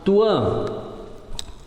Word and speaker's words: Tuan: para ele e falaram Tuan e essa é assim que se pronuncia a palavra estrangeiro O Luan o senhor